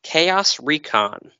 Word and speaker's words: ChaosReacon: and with me on this episode i have chaos recon is that how it's pronounced yep okay that's what i figured well